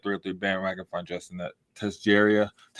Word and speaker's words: Tessier: Find Justin at Tessier. How do you say it? Tessera on Sleeper on Facebook.